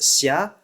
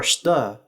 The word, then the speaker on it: Щ: In Russian, it's pronounced as a voiceless palatalized fricative xia, which may be geminated. In Ukrainian, it's pronounced shcha, as a cluster of the voiceless post-alveolar fricative and affricate, and in Bulgarian, it's pronounced shta, as a cluster of the unvoiced post-alveolar fricative and alveolar stop.